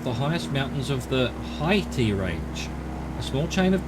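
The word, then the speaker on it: Haihte: Haiti. I guess you just ignore the other H.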